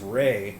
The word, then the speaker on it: re: So number 2 plus 5 is Ray, like Rihanna. Or Re, like Rihanna. But it's pronounced Ray.